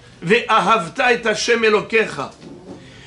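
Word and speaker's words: וְאָהַבְתָּ: en bas du mot ?» Eh bien, « Ve'ahavta » c'est à la fin du mot.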